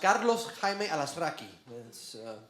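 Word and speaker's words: Carlos Jaime Alazraqui: Correctly in Spanish is actually pronounced Carlos Jaime Alasraqui.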